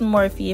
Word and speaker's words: Morphe: using the morphe palette i believe it's pronounced morphe if it's more of my apologies but i'm using that